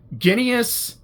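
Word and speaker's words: Ginias: Ginius rhymes with Phineas.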